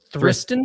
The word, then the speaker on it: Thriston: How do you pronounce it? Oh, it is. Oh, it's Thristen. Thriston.